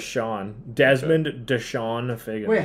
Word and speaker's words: Chone: Yeah, it says Sean.